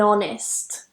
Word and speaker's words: honest: example don't use uh even though there is an H spelling there we're going by the sound and the sound we use is actually a vowel at the beginning of those words so make sure you're